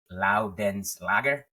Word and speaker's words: Loudenslager: His name is Nick Loudenslager.